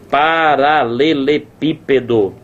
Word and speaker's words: paralelepípedo: palavra é proparoxítona cara como eu te disse a sílaba tônica ou tá aqui na última sílaba mas aí na última sílaba não rola porque ficaria paralelepiped paralelepiped paralelepipedo não existe paralel pedó paralel piped ó o absurdo né ou tá na penúltima